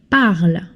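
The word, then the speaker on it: parlent: When a verb ends in ent, you don't pronounce it, you drop it. So this is pronounced parlit.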